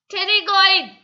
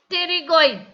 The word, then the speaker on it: pterygoid: Pterygoid. What is the name of the muscle? Pterygoid. P is silent. We should pronounce that pterygoid. Pterygoid.